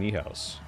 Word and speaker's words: Niehaus: I've been saying Niehaus. That's how you would say it in German.